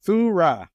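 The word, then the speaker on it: θύρα: It's pronounced thurra.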